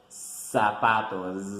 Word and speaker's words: zapatos: sabato shoes in English zapatos zapatos in Spanish zapato and the pronunciation is like the s like the Z in English but we don't make the vibration like in English we gonna say sapatos the pattern not-not-not that